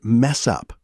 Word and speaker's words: mess up: And mess up. In fast speech, this links together. Mess up, almost sounding like one word.